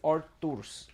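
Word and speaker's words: Artūrs: His name is Arturs. So in Latvian, it's not really Arthur. It's Arturs.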